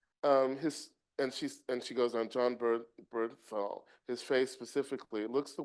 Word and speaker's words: Bernthal: My tenuous excitement for the series when it was first announced hinged on John Bern, Ben," how do you pronounce it, Bernthal? DOREEN ST. FELIX - Bernthal.